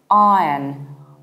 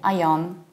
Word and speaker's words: Iron: Saying ion will still make you sound foreign. You need to reduce the ending. It's iron, not yon, but yin. Iron. And if you want to sound even more British, you need to open your mouth very wide. It's iron, iron. It sounds exactly like the iron in chemistry.